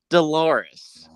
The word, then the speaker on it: Dolores: And one of them called out Dolores, as in it rhymes with clitoris thing.